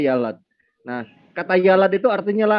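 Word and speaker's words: ילד: Yud lamet dalet hurufnya tulisannya, dibacanya yalad.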